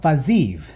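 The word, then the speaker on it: Fiziev: Rafael Fazayu, that is the correct pronunciation.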